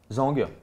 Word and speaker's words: Zhang: Mais de quoi c'est Weili Zhang? C'est quoi? Maestro. Zhang. Weili Chang. Zhang. Weili Chang. Faut pas prononcer le G.